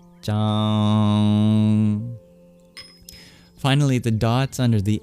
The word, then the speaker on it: Cāṅg: So it's like CH but less breathy. Sanskrit tends to be less breathy than our regular English variants. Chang. Try to do it with as least air as possible. Chang.